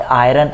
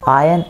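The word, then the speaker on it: iron: Guys are को pronounce ना करें, that is नॉट आयरन out, that is आयन आउट।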